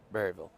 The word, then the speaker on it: Berryville: But you've got Berryville, and I've heard people from Berryville say it's not Berryville, it's Burville. So how do you pronounce it, Blaze? Berryville or Burville? Well, Berryville.